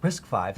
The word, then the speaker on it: RISC-V: RISC-V, pronounced RISC-V, is an open case instruction set architecture based on established roadways.